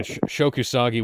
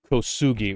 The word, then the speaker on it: Kosugi: Yeah, Shokusagi wound up Kosugi, rather. Sorry, that's me mispronouncing his name.